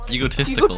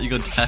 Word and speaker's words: egotistical: Egotistical. Not egotastical.